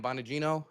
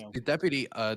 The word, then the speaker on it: Bongino: And then Dan Bonagito Dan Bonagino, I believe his name is pronounced. Bonagino.